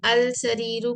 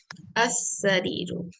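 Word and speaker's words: السرير: mistake करी मैं फिर अस सरीर वेरी गुड क्योंकि सीन हरफ शमसिया में से है इसलिए हम लाम को नहीं प्रोनाउंस करेंगे इट विल बी साइलेंट रहता नहीं प्रस कर जाता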